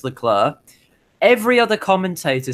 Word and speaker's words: Leclerc: I would also say he also pronounces Leclerc wrong as well. I have absolutely no idea. He's the only commentator that pronounces it Leclerc. Leclerc. Why does he do that? I have absolutely no idea. Charles Leclerc says it's Leclerc.